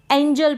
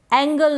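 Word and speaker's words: angel: है क्या है इसको एंजल पढ़ें क्या पढ़े एंजल अगर आपने जी के उच्चारण के नियम सीटें हैं तब आप कभी वीएस एंजल को एंगल नहीं पढेंगे क्या एंजल को ऐंगल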